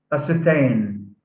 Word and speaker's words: ascertain: the word entertain entertain ascertain so here the suffix ain carries the primary stress it's it's said louder it said louder than than uh than than the base acetane doubly evacuee evacuee